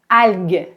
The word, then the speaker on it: algue: Par exemple, vous savez, normalement, G-U-E se prononce G, G, comme dans algue, algue.